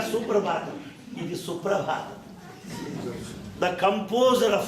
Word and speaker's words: Suprabhatam: some from the West they don't know how to pronounce suprabhatam they'll say super bottom not suprabhatam it is the composer